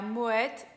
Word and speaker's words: Moët: E a segunda champanhe é a Moët e Chandon. Vocês perceberam que na palavra Moët a gente fala o T?